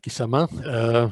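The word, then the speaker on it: Quissamã: of the states kizama there should be a little accent on the on the last a but my powerpoint doesn't support that kind of so kisama they founded the ingenio the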